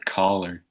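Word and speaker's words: choler: back you know oh I looked up that word color it's pronounced collar it means a anger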